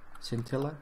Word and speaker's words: scintilla: Scintilla, I think it's scintilla. That's how the pronunciation goes. Stress should be on the second eye.